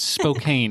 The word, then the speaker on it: Spokane: Spoken. It's Spokane. It's spelled Spokane.